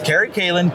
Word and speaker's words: Kerry Callen: spell it right because I because I was pronouncing it wrong. So I you know, but so it's Carrie Kalin.